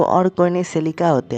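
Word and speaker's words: Cecilia: जी हाँ, उसकी नाम सिसिलिया है, मैं सिलिका बोलता हूँ क्योंकि मुझे प्रोनाउंस करने में ज़्यादा आसानी होता है। और सिसिलिया बोलूँगा ना यार तो गलती हो सकता है, लेकिन अब से मैं यार उसे सिसिलिया ही बोलूँगा, ठीक है ना?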